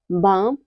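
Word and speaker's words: balm: पर L silent है rule number four यदि किसी वर्ड में एल के बाद एम आता है तो एल हमेशा साइलेंट रहता है जैसे है काम पाम बाम और आमंड इन सब में क्या है इन सब में एल के बाद आया हुआ है तो यहां पर हमारा एल साइलेंट है अगला है एन कब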